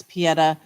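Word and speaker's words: Pietà: me so sad it's like looking at the Peta I don't know how you pronounce it yeah it's Peta and that's uh Michael Michael De Michelangelo Michael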